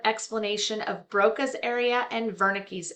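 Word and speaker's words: Wernicke: It is just a very short explanation of Broca's area and Vernick's area. And again, pronounced V because it is German.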